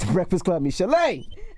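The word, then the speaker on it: Michel'le: Michele'le, Yeah. that's how you pronounce it, right? Michele'le? Michele'le.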